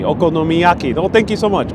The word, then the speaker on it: okonomiyaki: from eastern europe and donald comes with the pronunciation okonimiyaki okonomiyaki oh thank you so much okonomiyaki thank you